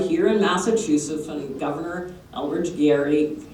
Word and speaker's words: Gerry: in massachusetts governor eldridge gary it's actually pronounced gary um produced a district